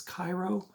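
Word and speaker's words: 回路: it is the uh Japanese J horror Thriller that inspired the remake of pulse yeah uh also the original Japanese title is Cairo uh oh it's right there you can see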